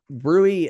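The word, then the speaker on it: bruit: peripheral pulse changes Brew Thrills uh rating so Brewery uh the B rui TS Brewery is is spelled Brew but it's pronounced Brewery um is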